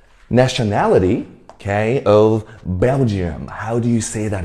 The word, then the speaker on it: Belgium: 来，我们一起读一次：Belgium, Belgium 嘛。